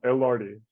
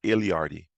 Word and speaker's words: Illardi: this right wrong my my last name yeah your your last name yeah elvardi and lardy all right it's not iliati no like people think it's like i